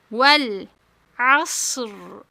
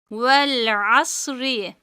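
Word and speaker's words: وَالْعَصْر: Vel asr. Vel asr. Eğer burada durmazsak arkadaşlar ra harfi esreli olduğu için ince okunur. Vel asri ra harfi sakin yani cezimli.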